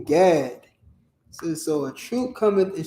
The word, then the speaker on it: Gad: she called his name Gad. So a troop cometh, and she called his name Gad. So now this is the 7th child. Gad. Gad. All right, it's the same way it's spelled, pronounced God.